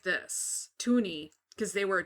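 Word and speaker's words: toonie: it's a $1 so tuni was called twwo me because it rhymed with Looney but people are spelling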